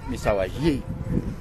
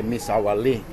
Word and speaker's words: Misahualli: we just arrived in Misawa Lee it's actually pronounced miss Hawaii but in English I guess it's probably better to say miss Sally and when you are when you get to